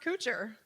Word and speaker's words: Couture: my name is pronounced Couture not many of you who thinks my name is pronounced coocher you're all correct so my ancestors on